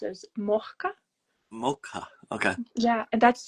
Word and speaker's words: Mojca: It was impressively well pronounced. Not correct, but You're really close. Okay, what is the actual pronunciation then for me? Mojca. Mojca. Yeah. Okay. It's I it's funny because since I moved abroad, I realized that it's not easy to pronounce this name. And on top of that, I have a lisp.